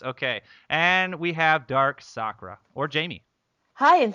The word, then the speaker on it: Sakura: And we have Dark Sakura, or Jamie. Hi, and thank you for saying it right. I know. Well, some people say Sakura, don't they? Yes.